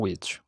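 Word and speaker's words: which: সো এটার উচ্চারণ হচ্ছে উইচ।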